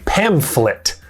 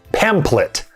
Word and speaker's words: pamphlet: just a common mispronunciation this is a pamphlet not a pamphlet i hear people say